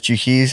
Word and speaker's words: Jukeyz: You're I just know, Jukeyz. yeah, I know. It's mad. People call me Jukesy a lot. Jukesy? Yeah. That's why they pronounce the Z at the end, innit?